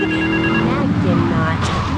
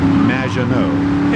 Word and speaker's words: Maginot: Maginot. Welcome to the show. Thanks, Amy. However, you have mispronounced my name. It's Madge, which rhymes with badge, as in duh, and no as in more than you. Maginot.